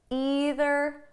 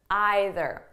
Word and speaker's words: either: Now, before we go any further, I just want you to know that the pronunciation is flexible. So you can say neither, neither, either, either.